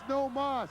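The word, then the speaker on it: no más: already said i quit no mass no mas fione's in spanish it's no moss he means i quit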